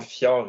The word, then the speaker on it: fjord: Le J dans fjord est semi-muet, plus ou moins muet. On dit fjord, on le prononce comme un Y en quelque part, mais ce n'est pas un J.